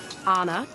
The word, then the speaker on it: Ana: Well, I have this large public platform to say that it's pronounced Anna. Like turn on a light, turn on a switch.